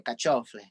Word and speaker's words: carciofi: Again, this is one of those things that's regional. So like my family say caciofle. You know what I'm saying? And it's like, what? That's not even how you pronounce it.